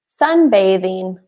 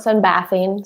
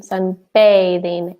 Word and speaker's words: sunbathing: lost one as well sunbathing yes so guys you noticed that word it is Sunday bathing like the letter A so not awesome yeah not sunbath lean sunbathing a bathing some there is